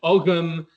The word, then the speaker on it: Ogham: For example, long story short, but I tend to say Ogham because that's the modern Irish and modern Scottish Gaelic pronunciation. In the 8th, 9th century, you would have said Ogham. In Proto-Celtic, you would have said something more along the lines of the kind of hard G, like an actual girth.